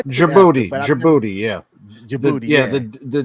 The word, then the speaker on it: Djibouti: oh okay yeah yeah Djibouti Djibouti yeah Djibouti yeah the D is silent like in Django the D is silent in digibody hey shout out to